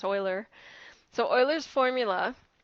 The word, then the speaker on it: Euler: That's EU is actually pronounced E, like oi, in German anyways. So maybe I'm wrong in any other language, but that's what it's pronounced, Euler.